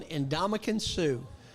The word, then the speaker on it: Ndamukong Suh: Number 1, Ndamukong Suh. You pronounced that right.